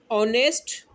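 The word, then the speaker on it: honest: जैसे मिसाल के तौर पर ऑनेस्ट बॉय। अब ये ऑनेस्ट बॉय है, इसके साथ जो है वो एच साइलेंट है, ओ का आवाज़ आ रहा है, ओ वोविल में से आता है।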